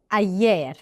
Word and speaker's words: ayer: احفظوها كأنها يير بالانجلش يعني.